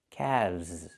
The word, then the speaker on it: calves: The L is silent, and we pronounce the V sound with vibration, plus the Z sound like zebra. Together, calves.